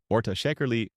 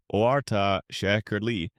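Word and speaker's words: orta şekerli: For the purists, az shekerli, ahz shekerli, with just a little sugar, orta shekerli, orta shekerli, medium sweet, a popular choice, or çok şekerli,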